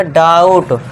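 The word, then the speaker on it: doubt: अब B silent है यहां पे। ध्यान देना है और उसके लिए टी के लिए हमने ट कर दिया। तो ये हो गया डाउट।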